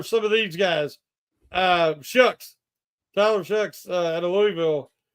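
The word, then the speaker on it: Shough: You might see, some of these guys, Tyler Shucks out of Louisville. I think he's pronounced as Shucks.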